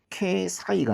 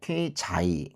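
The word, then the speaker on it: 経済: 경제는 K 사이가 아니고 K자이 그렇게 읽거든요. 겐 인간이란 표현은 링겐 그렇죠.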